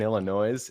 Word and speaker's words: Illinois: That's not how you say it. It's Illinois.